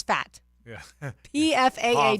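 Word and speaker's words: Pfaadt: guy who I think you pronounced his last name as fat yeah PF a a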